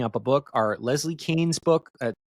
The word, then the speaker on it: Kean: a book, are Leslie Kean's book. It's pronounced Kane, actually, but it's spelled in a way that you would think it was Keane.